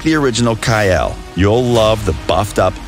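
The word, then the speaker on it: Kael: wait wait a minute since when was he called kyle was it not kale like i literally haven't had anybody pronounce it it's kyle i think ray's just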